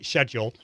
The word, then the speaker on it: schedule: way because if you schedule and i'm i'm pronouncing it the correct american way not as i say schedule scheduling your live shows